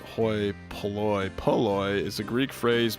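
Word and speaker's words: hoi polloi: Um Hoy Poloy, pronounced Hoy Poloy.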